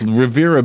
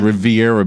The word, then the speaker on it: Riviera: late number 37 is Rivera beach also known as riviera beach if you pronounce it the wrong way yes I know you can argue with me but I worked there for a while everybody corrected me when I said Riviera yes so Revere it